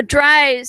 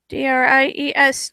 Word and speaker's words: Dries: Oh, Dries, as in it rhymes with. Okay, all right. I got a correction on. Yeah, I wrote it like that too. Dries, Dries. All right, so yeah, here we go. Click that button. And it rhymes with House of Size, also one of his books.